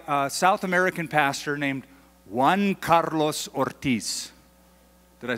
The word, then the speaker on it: Juan Carlos Ortiz: And it was written by a South American pastor named Juan Carlos Ortiz. Did I say it right? Okay, good. So Juan Carlos Ortiz, and he's from Argentina, and he was dealing